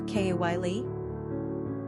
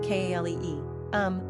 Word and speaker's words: Calli: Callie and Callie are pretty clearly pronounced Kalee.